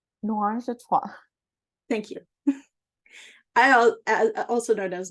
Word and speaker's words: Noirangetrois: Noirangetrois. Noirangetrois.